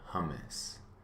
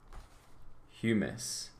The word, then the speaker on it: humus: rock pieces air water and then material called hummus or hummus looks like hummus but it might be pronounced human sorry i should have double checked